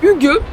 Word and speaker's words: hygge: vie qui s'appelle le HUG donc quand on voit comment c'est écrit on se dit que c'est IG IG on sait pas trop mais ça se prononce HUG qui alors il y